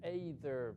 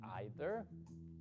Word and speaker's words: either: palabritas eran muy importantes no vamos a pronunciar Eider Aunque en algunas partes se dice aiter sí pero es más fácil decir either responses with to and